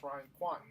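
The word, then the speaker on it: Ryan Kwanten: And all of a sudden, we were talking to one of your stars, Ryan Quanten. I think that's how you pronounce his name. Yeah, that's exactly right. Ryan Quanten.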